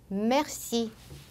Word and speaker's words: merci: 으 하고 벌리는 것이 아니라 입을 동그랗게 마른 상태로 으 하는 발음으로 뿌지라고 해주시면 되고, 그 다음 으 다음에 자음이 2개 이상 오는 경우에는 merci, reste처럼 에 발음이 나요.